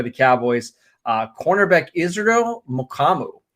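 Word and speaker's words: Mukuamu: cowboys uh cornerback israel mukamu mo kamu is how you say is last night um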